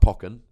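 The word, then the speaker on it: Pokkén: poke Pock and tournament I'm told it's pronounced pocken I suppose it makes sense um but if you pronounce it pokon I won't hate you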